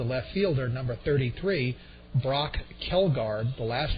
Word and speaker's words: Kjeldgaard: Batting sixth is the left fielder, number 33, Brock Kelgard. The last name is spelled Kjeldgaard. The first J is silent, the first D is silent.